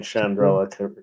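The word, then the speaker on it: Chandrila: And you're pronouncing Chandrilla correctly.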